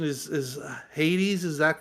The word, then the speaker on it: Hades: And the correct pronunciation is Hades.